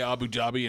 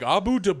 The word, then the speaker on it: Abu Dhabi: nmal Abu Dhabi yeah anytime I hear someone try to say Abu Dhabi and mispronounce it I'm always like well you didn't watch Garfield when you were a kid what the hell I've heard like Abu de it's like go [